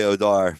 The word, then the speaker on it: Odor: Oh, Rugged Odor? Rugged Odor, as we call him on here. No, it's definitely Odar, but Rune, I believe. Rune? Yeah, I think it's Rune.